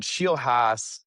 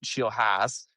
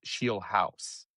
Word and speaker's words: Scheelhaase: Now, I'll still have to be fighting the Yinzer in me that wants to make it Scheelhaase, but at least now I know that I think it's supposed to be pronounced Scheelhaase. And you had me second